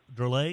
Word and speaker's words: Drolet: Is that how you pronounce her name? Drolet?